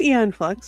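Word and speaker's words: Aeon Flux: That's just makes me think of different Have I been mispronouncing films my entire life? No, it's Eon Flux.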